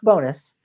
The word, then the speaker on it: Bones: our final submission ricky bonus spelt bones will pronounce bonus he got out of